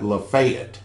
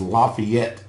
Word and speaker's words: Lafayette: here they call it lefet the proper pronunciation is Lafayette Tennessee because it's a French word and most you people